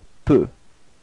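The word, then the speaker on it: peux: Second person to to P. So you can see that it's exactly the same way of writing it and exactly the same of pronouncing it. You don't pronounce the final X. So it's P.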